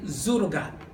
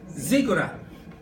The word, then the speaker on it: ziggurat: When you talk about tower in that area during that time, what they want to build was a zurugat. Zugurat. How do you pronounce it? Ziggurat. Sorry for that.